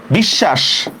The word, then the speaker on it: বিশ্বাস: যেমন দেখেন খুব ইজি, বিশ্বাস, দেখেন তো বিশ্বাস শব্দের মধ্যে শটা আমি দুইবার লিখবো কিনা? বিশ্বাস, বরস্কার বি, তালব্য হসন্ত, তালব্য আকার, তালব্য হসন্ত, বিশ্বাস।